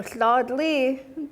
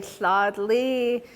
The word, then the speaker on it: Sladli: Frenchman that came through, they couldn't say his name correctly. And so they were trying to say Sladli, but then they used